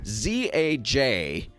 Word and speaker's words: Zajkowski: We're on site at the Lakewood location, and I'm sitting here with Zajkowski. Did I get that right? You did. Zajkowski. You said you're not even sure you pronounce it correctly.